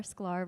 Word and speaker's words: Sklar: Sclar rhymes with star on all social platforms, TikTok, Instagram.